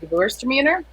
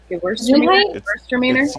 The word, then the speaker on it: Gewürztraminer: I've got a Gewürztraminer. Which is interesting. It's a Gewürztraminer. How do you say that again? Gewürztraminer.